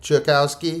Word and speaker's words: Czajkowski: Chakowski.